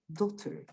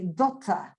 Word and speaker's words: daughter: you have fewer sounds you say daughter so you have five and if you use america a british pronunciation you will have four because you would say dota because the british don't pronounce the the last r the e r at the end is ah for them so harry potter is not harry potter as it is for the for the americans right do you understand